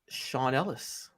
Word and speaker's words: Sean Ellis: It is Sean Ellis. Yes, it rhymes with Ron Dellis.